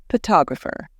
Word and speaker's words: photographer: For example, in the word photo, we stress the first part, but in photographer, we stress the second part.